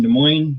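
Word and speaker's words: Des Moines: But in De Moines, they say visit De Moines. Skate De Moines. The S's are silent.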